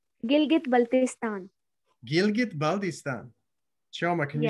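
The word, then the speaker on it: Gilgit-Baltistan: the hongza river how do you say that gilgit baltistan gilgit baltistan gilgit baldistan can you say that baltistan it's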